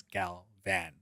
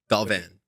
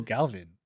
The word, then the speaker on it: Galvan: day, they're like, oh, Galvin. And they think it's like pronounced with like an I or something.